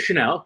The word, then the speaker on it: Shanil: Yeah, so my name is Shanil, pronounced like the perfume, just spelled differently.